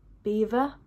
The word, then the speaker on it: Belvoir: how to pronounce it I feel like when I heard it on the the mic afterwards people were saying Beaver be be I don't